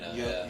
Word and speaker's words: Yelena: Yelena.